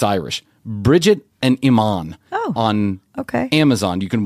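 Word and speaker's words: Eamon: it's not British actually it's Irish Bridget and Iman on okay Amazon you can watch it's it's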